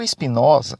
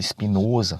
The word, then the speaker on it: Espinosa: filósofo Espinosa hoje é sobre o Espinosa às vezes também pronunciado espinhoso negócio fechado é a